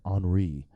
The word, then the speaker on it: Henri: I was wondering why it was Henry with an I, but apparently it's not pronounced Henry. It's pronounced Hurricane Henri.